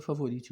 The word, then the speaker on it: Favorite: SOS São discos favorite a pronúncia que se se fala no Brasil é favorite mesmo já é já é assim que se fala entre os colecionadores entre